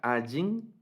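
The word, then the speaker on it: עין: En algunas construcciones y en algunas variantes de pronunciación les pareciera sonar la letra Ayin, pero en realidad esta es completamente silente, la letra Ayin.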